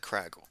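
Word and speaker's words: Kragle: It says Kragile here, but he's pronounced it like Craggle.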